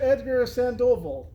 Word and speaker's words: Edgar Sandoval: Edgar Sandovville. Did I pronounce that right?